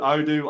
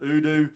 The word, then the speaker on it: Odoo: I call it Odoo. Other people call it Udo. Yeah, Udo is the way I say it.